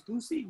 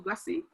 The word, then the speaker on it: Gusi: The Philippines also is I want to pronounce this right, it's Gusi. Thomas gave me the information and he said it's Gusi, G-U-S-I, Gusi or Gussie Peace Prize, which is what the